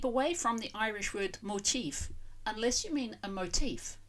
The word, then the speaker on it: Motiv: motive and motif, button because it's spelled with a V on the end yet sounded like an F and with the stress on the second syllable motif, the motive for the deed.